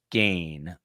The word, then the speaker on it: Gain: her her name is Kaylee gain uh oddly it rhymes with strain we were just talking